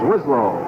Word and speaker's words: Wislow: kimko comes in len weislow comes out of the ball game check that the correct pronunciation is wislow it's third down and